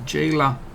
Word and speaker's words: Gela: It's We're going to liberate what is pronounced as Gela from the grasp of Mussolini and company.